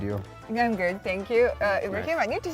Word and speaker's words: Ibrahim: just cut the A and put Ibrahim.